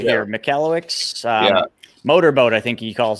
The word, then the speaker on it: Michalowicz: How do you pronounce his last name? Mike Michalowicz. I got it right here. Michalowicz.